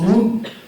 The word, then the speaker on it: Ng: Il a un nom de famille avec 2 lettres, 2 consonnes, NG, mais ça se prononce Noon.